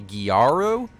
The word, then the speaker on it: Gyaru: By the way, you guys also explained that Aika is, I think you pronounced it a Gyaru, like G-Y-A-R-U, which is apparently like